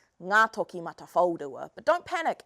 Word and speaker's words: Ngātokimatawhaorua: So I'm going to teach you how to say the name Ngā Toki Mata Whaurua.